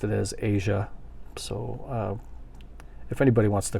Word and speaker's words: Asia: couple different ways too I always thought it was Asia like the country Asia the continent I should say and